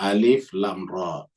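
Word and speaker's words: الر: tilka ayatul kitabil Hakim jadi bacanya alif lam ro ya Kenapa karena namanya huruf muqat huruf muqat Itu adalah huruf yang dibaca satu satu terpisah muqot itu artinya terpotong-potong terpisah-pisah ya jadi baca alif lam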